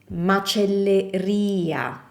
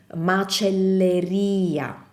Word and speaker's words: macelleria: The stress is on the I. Pescheria, macelleria. See, they all have the stress placement in the stress placed in the same spot, which is the I.